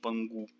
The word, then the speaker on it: Pangu: Escreve assim com K, mas pronuncia como se fosse G. Pangu.